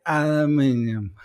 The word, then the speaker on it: aluminium: in that lucky yes aluminum yes that's the way the americans say over here we say aluminium anyway guys it's been